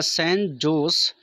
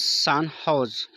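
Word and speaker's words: San Jose: Recently the सैन जोस pronounce सान हाउस state university which they were formed students honour them एंड install there statue in the university campus.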